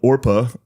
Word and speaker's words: Orpah: I feel like Oprah's Her first name was spelled Orpah, Orpah, on her birth certificate. But people mispronounced it regularly, and so Oprah stuck.